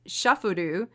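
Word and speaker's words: シャッフル: The Japanese pronunciation of shuffle is shufuru.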